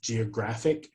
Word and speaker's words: geographic: a little bit trickier sometimes we put it on the second to last syllable particularly if the word ends in it um like Geographic is going to put